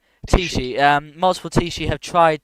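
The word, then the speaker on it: Teachtaí: How do you pronounce it? Tishi. Tishi.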